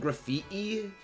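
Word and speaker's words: Grafaiai: the evolution of strudel graph III okay my friend calls it graffiti because like it's it's supposedly but like that doesn't how it's written it's graffiti or graphia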